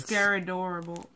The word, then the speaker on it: Scaradorable: to pronounce that look scaradorable scary horrible oh ok it's scar and then adorable put together started off so well